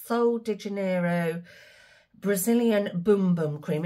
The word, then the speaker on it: Bum Bum: so de Janeiro Brazilian boom boom cream it says bum bum but it's pronounced boom boom and this is the